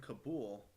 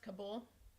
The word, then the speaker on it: Kabul: I was in Kabul, but Bagram is one of the main hubs.